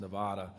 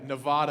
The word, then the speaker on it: Nevada: in it so yeah Nevada is what we always hear but it's Nevada it's Nevada not neva yeah I would if